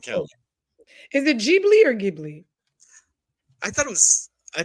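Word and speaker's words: Ghibli: perfect all right for the record it is pronounced gibli yes it is GI Okay g is G not gimly not the dwarf no not the dwarf G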